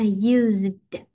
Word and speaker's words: used: designed embroidered and Used bởi vì chữ này đọc là z à Used rồi câu a Thảo